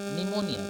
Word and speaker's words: pneumonia: क्या है यहाँ पे दिया हुआ स्पेलिंग में? PNEUMONIA. निमोनिया. क्या पढ़ेंगे? निमोनिया.